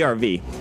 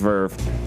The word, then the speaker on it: Verve: what Verve is it's it's the RV that's what everybody think that it's called but it's actually pronounced Verve yep and I hope